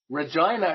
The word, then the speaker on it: Regina: I have no idea Regina it rhymes with fun that's their they stopped